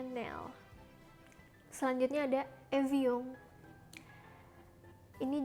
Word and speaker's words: Chanel: zul zul Lalu ada channel ini pasti Kalian sering banget ngeliat karena ini adalah sebuah brand terkenal Brandon lari Perancis jadi bacanya bukan channel Hai channel tapi benar Chanel Hai sanel selanjutnya ada Evi Um